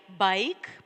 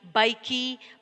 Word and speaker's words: bike: Like, ride, bike, pile, hide. Here, we can't read ridey, bikey, piley, hidey. Can we read in this way? No, because here the letter E is silent.